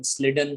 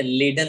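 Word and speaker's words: Schleiden: जे, ये देखो अभी इसका प्रोनाउंसिएशन स्लिडन आप कर सकते हो, ठीक है, लीडन आप कर सकते हो, कंप्लीटली एस सी एच को साइलेंट रख करके, ठीक है।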